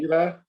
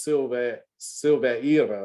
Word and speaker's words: Silvera: Silvera? Did I say it right the first time? Silvera? Yes, you did. Okay, I thought maybe it was Silveira or something like that.